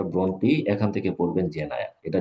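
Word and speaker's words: Brontë: যদি বলেন যে একটা পড়ব এটা হারল ব্রন্টি উচ্চারণটা ব্রন্টি এখান থেকে পড়বেন জেনা এটা জাতীয় বিশ্ববিদ্যালয় পড়ানো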